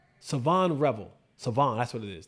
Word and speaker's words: Shavon: I think the H is silent. Savonre Savon, that's what it is.